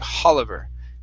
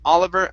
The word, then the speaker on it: Oliver: and the last time you added an h at the beginning saying hollover okay but this one here you did not okay and i think it may have just been because they're they're both at the beginning of or sort of at the beginning of sentences okay so let's try this here okay take off the h it is oliver announced try that oliver